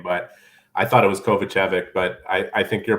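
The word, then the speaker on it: Kovacevic: calling him differently but I bet you it's kovachovich I I I'm gonna take your your word for it I'm gonna ask him before mispronouncing his name but I thought it was kovachevic but I I think you're probably bang on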